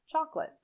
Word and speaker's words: chocolate: vegetable vegetable vegetable chocolate in chocolate the second o is not generally pronounced chocolate chocolate finally indifferent the first